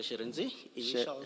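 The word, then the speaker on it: Shirindzi: Sherenzi. What? Sherenzi. Sherezi. Yes. Initials. Sherezi. Sherenzi, yes, Commissioner. It's spelled S-H-I.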